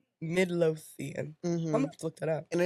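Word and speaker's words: Midlothian: Midlotheian, Texas.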